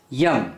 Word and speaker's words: yam: Heart chakra is YAM, Y-A-M, YAM, YAM.